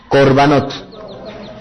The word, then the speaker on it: korbanot: algo que le han dado por llamar corbanot pronuncian conmigo corbanot Qué son los corvanotes son los sacrificios vamos